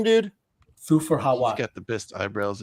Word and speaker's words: Thufir Hawat: How do you pronounce his name, dude? Thufir Hawat.